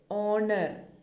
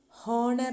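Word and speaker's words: honour: പക്ഷേ ഓണർ, honesty, ഓണറബിൾ ഇങ്ങനെയുള്ള വാക്കുകളുടെ എല്ലാം ആ എച്ച് നമ്മൾ പ്രനൗൺസ് ചെയ്യുന്നില്ല. ഹോണർ എന്നാണോ നമ്മൾ പറയുന്നത്? അല്ല. ഹോണസ്റ്റി എന്നാണോ പറയണ്ടേ? അല്ല. ഓണറബിൾ, ഓണസ്റ്റി, ഓണർ, ഓ സൗണ്ടാണ് അവിടെ ഉച്ചാരണത്തിൽ വരുന്നത് അല്ലേ.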